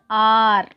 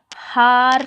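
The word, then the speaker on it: hour: so here H is there, isn't it? but H is silent here. you have to pronounce it as R. okay, har சொல்லக்கூடாது, R. so pronunciation is R.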